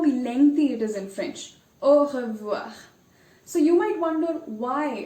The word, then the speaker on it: au revoir: Even though it doesn't start with R, I've chosen this word because it has 2 R's in it, and both of them are pronounced. So you will really have to put an effort to try and pronounce the word.